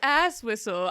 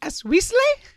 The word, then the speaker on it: Asweasley: Miss Ass Whistle, I do have something to say about last meeting's minutes, if we're beginning. Dee Dee, you know my name is pronounced Asweasley?